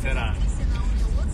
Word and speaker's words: Феррара: Как у меня с произношением? Феррара.